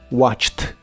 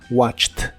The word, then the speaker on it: watched: un verbo regular y la terminación Ed del pasado se pronuncia pronuncia como t watched watched el verbo watched en